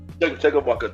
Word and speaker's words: Chumbawamba: I'm gonna need a little help with this pronouncing. So the group is called Chumbawamba. Chumbawamba? Chumbawamba, there you go, yeah.